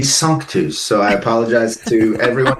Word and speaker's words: Sanctus: And so he brought it back to the band and he said, "I think we should name the band Sanctus." Not knowing that it should be sunkus.